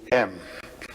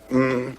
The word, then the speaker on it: AUM: It's written a U m. You start in the back of the mouth. Ah, and then u you fill the mouth and m closes at the mouth.